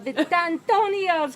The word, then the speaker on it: Vitantonio: class to be in Diana Vitantonio's class. That's such a good pronunciation. That's how you have to say it.